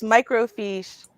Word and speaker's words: microfiche: were recorded on fish is that how you pronounce it fish it's been so long yes microfiche microfication microfilm it feels it's it felt so